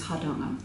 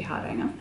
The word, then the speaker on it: Hardanger: And the correct way to say this is Hardanger. Hardanger. And we Australianised it to be Hardanger.